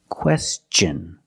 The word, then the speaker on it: question: When tio n is after an s then it's pronounced differently. It's pronounced with the ch sound. The hard ch sound like chicken and change. With words like this, question.